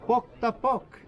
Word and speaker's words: Pok ta pok: The name of the game is pronounced with a P, and you say, repeat after me, Pok ta pok.